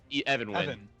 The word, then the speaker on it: Evan: ever wins evan yeah evan evan like even uh spelled like even colin everwind um uh